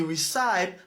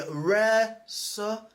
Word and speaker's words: recipe: Donc, si nous on dit recite, n'a dit non c'est recipe, recipe.